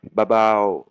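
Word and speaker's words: เบาๆ: Alors bao bao, dire deux fois, c'est un petit peu long. Donc les tailles à dans le langage écrit, on va bien l'écrire deux fois, bao bao, en langage, on appelle ça littéraire, mais dans le langage oral, ça va être un petit peu long, donc les tailles vont dire babao, hein, babao, pour dire bao deux fois, qui veut dire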